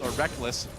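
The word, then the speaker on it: Rekkles: I still want to call him Reckles, but I've just gotten so used to calling him Reckless because he says so.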